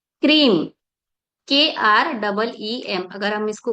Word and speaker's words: क्रीम: क्रीम, KREEM, अगर हम इसको उच्चारण करें, KREEM, पर आप लिखेंगे हिंदी में ही।